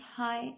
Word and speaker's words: high: The birds are flying हाई इन द स्काई। हाई HIGH। यहाँ पे जी जो है ये हमारे पास साइलेंट लेटर है।